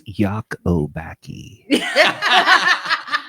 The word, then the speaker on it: Lacobacci: It's Yakobaki. Oh, He put it up. I put it phonetically up on the screen.